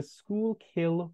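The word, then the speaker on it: Schuylkill: a place in Wales it is called the school kill River spelled exactly as you see it on the PowerPoint it took a very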